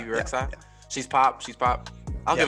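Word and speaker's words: Bebe Rexha: BB, is it BB Rexa? Is that how you say her name? Yeah. BB Rexa.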